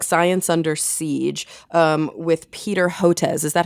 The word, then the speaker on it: Hotez: So you co-wrote your new book, Science Under Siege, with Peter Hotez. Is that how you pronounce it?